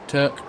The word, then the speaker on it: toque: A cotton toque, Turk. However you pronounce that. Touquet. It does say pronounced Turk, so take its word for it.